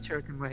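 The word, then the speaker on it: Chirrut Îmwe: This was, like, for example, is that how it's pronounced, his name? Yes, Cheriton Way, yeah.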